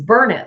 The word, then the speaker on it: Burnet: It's burn it, like you're burning it, you know, burn it.